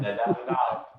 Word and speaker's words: Nadab: It's not pronounced, I have no idea. That's right. Nadab.